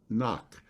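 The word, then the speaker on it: Knie: that he became the artistic director of circus noc am i pronouncing that right eugene that's right yeah yeah circus knock in switzerland and a position that he held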